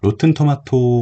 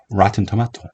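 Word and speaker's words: Rotten Tomatoes: 있어요 로튼 토마토 그래서 로튼 토마토 오브 라고 발음하는 것도 좀 괜찮습니다만 좀더 정확한 발음은 와 텐트 맡아요 라틴 토마토 요렇게 발음하는 게 봤습니다 그래서 잔 좋겠어 없다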